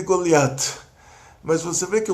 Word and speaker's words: Goliat: No hebraico de Israel, que é o hebraico dos Faradim, o hebraico dos países árabes, o hebraico que a maior população de Israel fala, o Taf com pontinho ou sem pontinho é pronunciado como T. Aí já é a influência do árabe. Então fica David e Goliat.